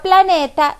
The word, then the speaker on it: planeta: la palabra sería planeta en la palabra planeta yo digo planeta la sílaba que pronunció con mayor fuerza 2 es la sílaba ne por lo tanto la